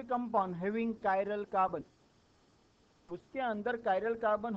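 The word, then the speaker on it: chiral: उसको असमेट भी बोलते हैं इसको आप कैसे प्रोनाउंस करोगे कैसे बोलोगे इसको सीच आई आर ए एल व ू प्रस कायरल and organic Kampa having us semantic carbon इस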